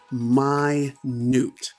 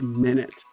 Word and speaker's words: minute: not know the pronunciation is actually my newt it doesn't sound like minute so my newt if